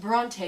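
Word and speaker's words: Brontë: and i think i took a nap it's pronounced bronte you uncultured swine it's exactly why we choose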